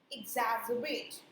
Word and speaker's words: exacerbate: So इसका जो correct pronunciation है that is Igzaerbate. Exacerbate.